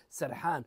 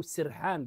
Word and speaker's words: سرحان: عند الحظر اسم سرحان والحظر غالبهم ينطقها بكسر بفتح السين سرحان وان كان الصواب انه بكسر السين كما ينطقها بعضهم كما ينطقها ايضا البدو طيب ليش بكسر السين